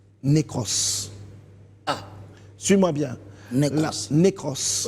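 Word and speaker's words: νεκρός: J'ai marqué la mort Oui. se prononce en grec nékros.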